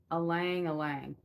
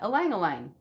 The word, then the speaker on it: alang alang: Okay, so it's derived from the Tagalog word alang alang. Oh, look at that. I said it right. Alang alang. Alang alang.